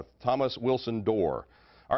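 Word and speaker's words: Dorr: Rhymes with war and roar, it's Door. Thomas Wilson Door.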